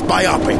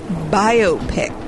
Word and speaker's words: biopic: my ship, the SS Biopic. Avast! It's actually pronounced biopic. No, you dingus! It's biopic! Who the hell says that? It's biopic. It's the words for biography and picture.